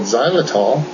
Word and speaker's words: xylitol: It's spelled with an X. Xylitol.